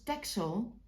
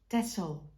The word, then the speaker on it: Texel: I know everybody says Texel because you write it with an X but us Dutch people pronounce it as tessel with a double s soundwise so just a bit